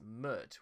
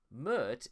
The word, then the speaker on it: Pmurt: he initially pronounced it mert based on the opinion that the p is silent when his name is spelled backwards however in eid murde